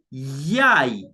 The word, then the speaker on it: yai: A good example, the Swahili name for an egg is yai, ye, yai, yai, ye, and an a, yai.